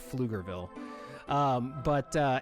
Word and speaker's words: Pflugerville: Yeah, oh yeah, Pflugerville starts with a P. PF, it has a silent P at the beginning of Pflugerville.